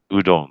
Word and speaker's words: Udon: That's pronounced Udon.